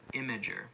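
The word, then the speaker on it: Imgur: imageries held I am gee you are but pronounced imager imager is a free hosting site preferred by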